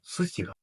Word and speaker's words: суціга: Це слово буде суціга. Суціга наголосне і - це архезм, що пішов від слова сутяга.